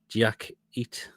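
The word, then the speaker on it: Diakité: Diak, that's how you pronounce his name. Diakite.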